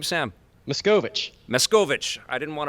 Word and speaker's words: Machkovech: how do you say your last name Sam miss Govich miss Govich I didn't want to butcher it I'm sorry I butchered it in your intro there is a